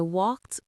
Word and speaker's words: walked: Also a T ending.